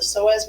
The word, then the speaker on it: psoas: And so this word, the P is silent. It's called iliopsoas, and it's actually made up of two muscles, the psoas major and the iliacus.